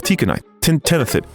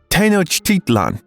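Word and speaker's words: Tenochtitlan: This is 400 years before the Aztecs built their beautiful capital of Tikkenite Tenthid Tenotitan. Yes, I finally said it right.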